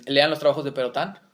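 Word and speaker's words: Pérotin: E lean los trabajos de Perotán, se escribe perotín. P E R O T I N.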